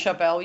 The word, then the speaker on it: Charbel: Let's move on to the Order of Saint Charbel. Is that how you say it? Yeah, the Order of Saint Charbel, yes, which is it was known as one of Australia's largest doomsday cults.